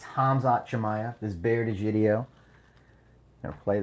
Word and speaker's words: Hamzat Chimaev: Hamzat Chimaev. That's how you say it. It's Hamzat, not Kamzat, not Kumshot. It's Hamzat Chimaev.